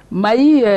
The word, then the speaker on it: Mahy: Parce que ça s'écrit M-A-H-Y. Mahi, c'est le diminutif de.